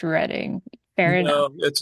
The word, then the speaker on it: Reading: Okay, Ian, a trivial nitpick, but reading is actually pronounced reading.